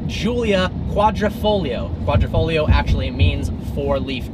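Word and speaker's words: Giulia Quadrifoglio: person gets wrong so first up is the latest offering from alfa romeo not called the wila quattroporte it is called the Julia quadrifoglio quadrifoglio actually means four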